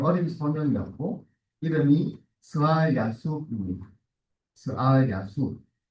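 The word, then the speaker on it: 스알야숩: 스알 야숲. 네, 특별한 이름이에요. 영어로 읽으면 좀 성경의 이름들이 좀 다르게 발음되잖아요.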